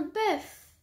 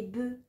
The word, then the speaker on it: bœuf: œuf vole un bœuf la consonne finale des mots boeuf œuf et os et prononcer au singulier mais ne les généralement pas au pluriel on dira des œufs